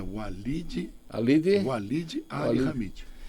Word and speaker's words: Walid Ali Hamid: A pronúncia certa é Walid Ali Hamid.